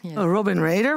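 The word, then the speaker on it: Robin Radar: practice at Urban rather is it Robin how do you say that Robin Raider very good your company provides Raider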